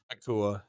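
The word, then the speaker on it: Nacua: Nakua, yeah.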